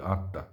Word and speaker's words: আত্মা: আমরা যাকে আত্মা বলি আমরা ম বলি না আমরা তয় তয় উচ্চারণ করি আত্মা তো আত্মা কি বস্তু